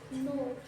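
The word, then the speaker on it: know: শুরুতে যেরকমের ছয় রসুটা স্যার নাউ নো আব্বা এই দেখ এখন একটু সবাই বোর্ডের দিকে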